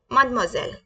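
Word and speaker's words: mademoiselle: को जो मैरिड नहीं है उसको कैसे बोलेंगे मदम जल कैसे बोलेंगे मदम जल मदम जल प्लीज रिपीट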